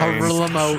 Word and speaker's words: Guillermo: Horilamo Eastclough. He did that. He did that one too. Guillermo Estafi is how it's spelled. Guillermo Estafi, but no, it's Horilamo Eastclough.